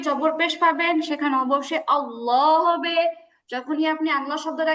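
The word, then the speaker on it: الله: এখানে আল্লাহ শব্দের আগে জবর আছে। আল্লাহু। আল্লাহ শব্দের আগে আলিফে জবর আছে।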